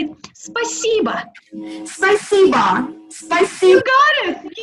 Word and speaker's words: спасибо: Спасибо.